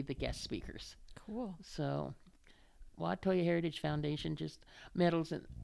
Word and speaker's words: Huajatolla: The Native American spelling of it is Wahtoya. It's pronounced exactly the same way, Huajatolla.